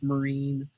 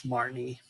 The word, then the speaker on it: Marnie: that marnie and i you might notice i'm pronouncing it correctly i actually read the card and i'm like why have i been calling this marine for so long it's marnie um yeah that makes those